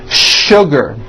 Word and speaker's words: sugar: What you may not know is that there are some words in English that are written with the letter S, but are pronounced with the SH sound. Words like sugar and sure.